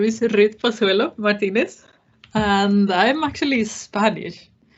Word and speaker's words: Pozuelo: are yes yes yes sir you very well pronounced and said my name is pasuelo martinez and i'm actually spanish so i was